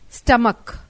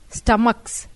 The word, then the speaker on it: stomach: branches topaz to passes but when CH is pronounced as k only s is added like monarch m-o-n-a-r-ch monarch plural monarchs m-o-n-a-r-c-h-s stomach stomachs s-t-o-m-a-c-h stomach s-t-o-m-a-c-h-s stomachs see nouns ending in